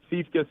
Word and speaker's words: Siefkes: All right, so Siefkes, are we pronouncing that correctly, first of all? Yeah, Siefkes is correct.